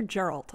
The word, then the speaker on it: Geralt: Geralt or Geralt? I'm always saying it wrong. It's Geralt. Geralt.